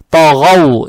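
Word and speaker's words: طَغَوْا: Фатха приобретает оттенок о, то есть та. То. Далее стоит буква ГАИН с фатхой. Здесь фатха опять приобретает, тоже приобретает оттенок О, так как ГАИН у нас тоже твердая буква. ТОГО. ТОГО получается. ТОГОУ. Здесь ВАУ читаем с сукуном.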